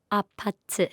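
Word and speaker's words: APT.: Can you pronounce it for me, please? Apate.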